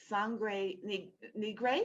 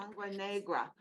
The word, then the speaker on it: Sangre Negra: Negra, which means black blood in Spanish, black blood. Sangre Negra.